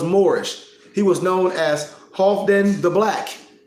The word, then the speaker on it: Halfdan: He was known as Halfdan the Black, H-A-L-F-D-A-N the Black, or Halfdan, if you want to pronunciate it that way, phonetically, Halfdan the Black.